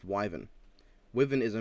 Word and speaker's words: wyvern: two issues with the episode 1 Ruby calm pronounced widen widen comes from the root word Vita which is derived from the Latin word for Viper it's not a Viper it's a Viper it's pronounced wyvern women is a mispronunciation my other issue is